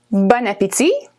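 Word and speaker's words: bon appétit: it said okay separately the words are actually bone which is good and apitzi which is appetite but when you put them together there's a liaison between the last consonant and the first vowel that's a long explanation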